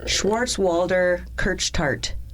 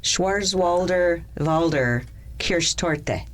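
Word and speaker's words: Schwarzwälder Kirschtorte: Um, it is the English name for the German dessert Schwarz Walder Kirch Tart. I really butchered that. I'm sorry, German people. Uh Schwarz Schwarzwalder Valder K tote.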